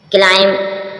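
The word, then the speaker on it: climb: च चेंज बदला हुआ क्लाइम क्लाइम मीन चढ़ना क्लाइम क्लाइम mean क्लाइम एम के बाद बी आती है साइलेंट रती है क्ला चढ़ना क्लाइम क्लाइम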